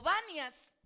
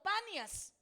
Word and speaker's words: Panias: La ciudad de Cesarea de Filipo antiguamente fue llamada Neronis o Banias, pero como los oriundios de ese lugar no podían pronunciar la palabra B, entonces le dejaron como Panias.